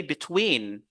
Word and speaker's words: between: preposition so we say between between so we focus on the second syllable between we do not say between between no we say between and the last word